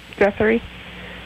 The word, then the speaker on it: Guthrie: And so you're out in Guthrie? Yep. How do you pronounce that? Guthrie.